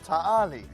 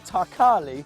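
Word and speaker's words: Ta' Qali: aerodrome by the RAF the British couldn't pronounce Tarly so they called it thar Carly spelt with the K idiots re after carly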